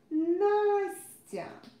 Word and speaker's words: Настя: Here I pronounce s hard, but here I pronounce s soft. I explained to you this pronunciation rule before. Here, look, the next consonant is hard. So the next consonant always influences s and z sounds. So since it's hard, s is pronounced hard too. But here, tia, tia, tia, t is soft. And it makes this s soft too.